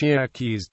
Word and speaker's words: Yerkes: Charles Tyson Yerkes, pronounced Yer-keys, was an American financier, born in Philadelphia.